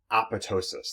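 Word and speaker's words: apoptosis: or cell suicide so you pronounce this word APPA ptosis the PT is silent like pterodactyl so APPA ptosis is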